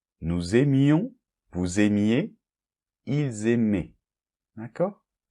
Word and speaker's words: aimaient: Donc par exemple, pour le verbe aimer, j'aimais, tu aimais, il aimait, nous aimions, vous aimiez, ils aimaient. D'accord? A-I-E-N-T se prononce et.